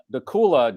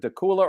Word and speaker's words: Dacula: Lynn from Dacula, Georgia. Is it Dacula or Dacula? I think Dacula rhymes with Dracula. Yes, it does. That certainly does. But I don't know if that's how it's pronounced.